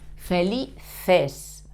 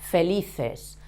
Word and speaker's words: felices: But the sound is the same. Felices, felices. The C and the E is fe, felices, okay?